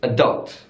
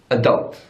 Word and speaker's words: adult: the stress is on the first syllable but an American English is adult and don't so the stress is on the second syllable adult adult in British English advertisement